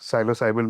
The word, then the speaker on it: psilocybin: One is I may be wrong in in the way I'm pronouncing this psilocybin.